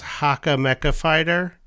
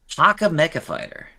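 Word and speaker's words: Hacha Mecha Fighter: springish feeling, and that's, I believe it's pronounced Haka Mecha Fighter. Haka Mecha Fighter.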